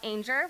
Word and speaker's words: Ainger: And we have Michelle Ainger, which rhymes with danger, who is the Women's Initiative Network Director and works with eBay.